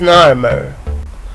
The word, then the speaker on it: Narmer: Those are the two Egyptian signs that are pronounced Narmer. هاتان هما العلامتان المصريتان اللتان تنطقان نارمر. Literally نارمر, حرفيا نارمر. The chisel is nar and the fish is mer.